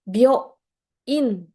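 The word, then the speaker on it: 病院: Bio in. Jangan sampai salah baca. Bio in. Ingat ya, ini kan yo kecil. Yo kecil, tandanya apa? Setengah lebih kecil dari huruf yang lain. Jadi dibacanya bio in.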